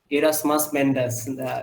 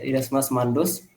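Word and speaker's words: Erasmus Mundus: আর sir masters করেছিলেন একটা joint একটা প্রোগ্রামে, এরাসমাস মেন্ডাস, উচ্চারণটা মনে হয় একটু ইয়ে, যাই হোক। মন্ডুস। হ্যাঁ হ্যাঁ, ইরাসমাস মান্ডোস।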